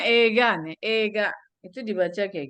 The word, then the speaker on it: 映画: Oh, Eiga. Hai, film. うん。 Kongshu Minna de Eiga ni ikimasen ka? うん。Itu bacanya ega nih.